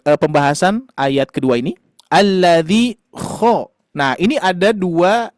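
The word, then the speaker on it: الذي: alla makanya dibacanya berbeda bukan alla tapi alladzi berikutnya huruf dza ujung lidah menempel ke gigi seri atas dza gini ayah bund dza dza alladzi alladzi ah dibiasakan ya dibiasakan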